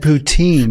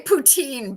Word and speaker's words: poutine: o o so like poo tin t i n so Putin is what did I I said poutine a lot of people say poutine but it's poutin I think we have